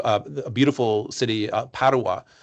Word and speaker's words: Padova: a beautiful city uh Padawa which is closer Padova I think they say in Italian it's closer to to Venice.